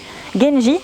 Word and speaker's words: Genji: Genji, c'est la prononciation chinoise en onyomi, genji.